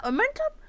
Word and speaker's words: omentum: the wound was jagged the omentum arm mentum Armenta momentum pronounced omentum all coating of the stomach